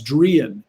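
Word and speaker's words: Druyan: But the way she says it in English, the way you pronounce it in English is Drian, Ann Drian. You get nothing else out of this interview, everybody. Ann Drian says Drian.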